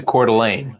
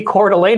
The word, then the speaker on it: Coeur d'Alene: When I moved to Coeur d'Alene, I lived in Coeur d'Alene for a while, everybody always referred to that state as Warsh.